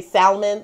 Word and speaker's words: salmon: of hearing people say salmon like that's another little food pet peeve of mine someone says salmon there's a lot of people who pronounce that l in that word honey and it is